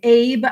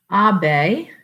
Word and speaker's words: Abe: uh and and and it's not abe it's abe abe i'm already being told i'm not saying it right abe okay so it's